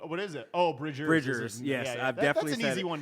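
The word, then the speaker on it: Bridgers: the pajamas band episode i definitely said phoebe bridges wha what is it oh bridget bridger's yes definitely an easy one to do that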